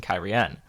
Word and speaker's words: Cairhien: He's seen Cairhien, and now he's seeing Cairhien.